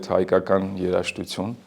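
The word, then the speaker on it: Հայկական երաժշտություն: Of course, Armenian music, we call it Haikakan Yerashtutsun in Armenian. Probably it's a bit difficult to pronounce, but I wanted to also showcase how it's pronounced in Armenian.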